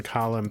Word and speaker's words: column: Should rhyme with Gollum, right?